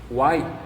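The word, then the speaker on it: οὐαί: A pronúncia desse ai em grego é algo como uai, não tem nada a ver com Minas, com mineiro, é a maneira de falar ai em grego, algo parecido como uai.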